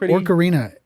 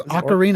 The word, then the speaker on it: ocarina: It's it hasn't aged very well, but it's quit calling it Orcarina. It is ocarina. Is it ocarina? Yeah. Like it's a musical instrument.